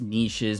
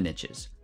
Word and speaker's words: niches: i know it's pronounced niches but riches and the niches sounds weird and just sounds better this way so the riches are in the niches what does that mean